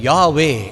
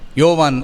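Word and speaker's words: Yahweh: அதன் பின்பாக 2 vowels A and E சேருகிறது. யா, YAH, WEH என்று.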